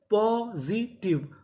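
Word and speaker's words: positive: आखिरी में इ है। हमें इ का उच्चारण नहीं करना। तो मीनिंग क्या बनी? पॉजिटिव।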